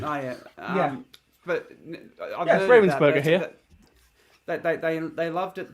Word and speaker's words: Ravensburger: Was it Ravensburger? No, it's Ravensburger. My apologies. I think it depends on who's published it in what region. Oh yeah, but I've heard Ravensburger here.